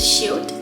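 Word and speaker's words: 시옷: So the next consonant is shiot, and this is pronounced s. It sounds like the letter S.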